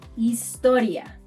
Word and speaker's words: historia: So, unlike English, where one says history, we say historia.